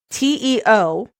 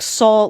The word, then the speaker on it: Teo: Well, but we thought pronouncing TEO, we thought we were supposed to pronounce it like Sol, like Park Sol Jun. Park Sol Jun, yeah. And Grace was like, no, and she said actually for his name it's Teo.